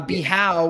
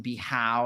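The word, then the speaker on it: Bijao: beach club yards the house is great uh bihau which is spelled b-i-j-a-o um is tends to get the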